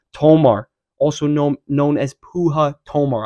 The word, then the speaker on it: Puja: that's going to be Puja Tomar, also known as Puja Tomar. I'm pretty sure you pronounce it Puja, but I'm going to call her Puja, man.